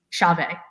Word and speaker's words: Chauvet: yes uh it's it's i would say chauvet but i think the closest way of saying it from the american perspective would be chavez chave okay okay oh i've been